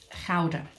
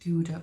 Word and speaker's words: Gouda: um place in holland called um howden or you might be more familiar with it uh pronounced gouda or dowder but it's basically where